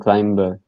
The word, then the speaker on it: climber: Climbing and climber. Climbing and climber. Okay. It is a silent B. Okay, silent B meaning you don't pronounce the B. So climbing and climber. Climbing, not climbing. Climbing, climber.